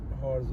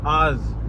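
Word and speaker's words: hours: एक minute 48 what हॉर्स हो गए हैं 48 हॉर्स हो गए हैं शायद हो गए हैं 48 नहीं एच नहीं बोलते एक मिनट यार की एच नहीं बोलते एच इज साइलेंट आर्स और किन पढ़े हैं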